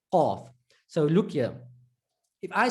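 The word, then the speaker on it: ق: Number 1, we said with the tongue, you're going to use a portion further to the back than the Kaaf. Number 2, the Kaaf is pronounced when the tongue touches the hard palate. The Qaaf is pronounced when the tongue, and we didn't know what portion of the tongue, back portion, touches the Qaaf, touches the soft palate.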